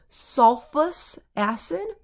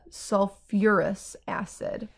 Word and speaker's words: sulfuric acid: have another instance where pronunciation comes into play sulfus acid it's kind of hard to say so we add back in the you are so it's a sulfuric acid and so I'm just